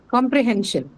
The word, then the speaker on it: comprehension: Or Ah, So hen should be stressed. comprehension. And hen should be the one that's stressed.